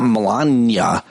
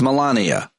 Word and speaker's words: Melania: Like it's not it's not Melania, it's Melania.